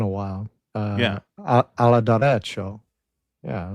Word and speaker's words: derecho: Apparently you pronounce this a derecho. I looked it up because I had never Really? heard of this word. Yeah, that's what Google says. That's how you say it.